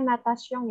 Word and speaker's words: natation: Sama satu lagi tadi aku lupa, yang ini bacanya natation ya.